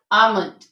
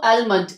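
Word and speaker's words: almond: silent होगा खाफ अं आमंड अब इसको एलमेंट अक्सर लोग एलमेंट पढ़ रहे होते हैं तो इट इज रॉन्ग ओके इसमें हम एल को साइलेंट रखते हैं आट आट इसके बाद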